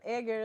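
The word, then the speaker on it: Ægir: Aar is spelled AE G I R.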